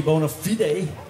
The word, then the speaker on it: Bona Fide: That's a little bit of blues from the last CD, Bona Fide, or as the Americans say, Bona Fide.